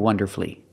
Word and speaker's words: wonderfully: The U is silent in these three words, masterfully, beautifully, and wonderfully.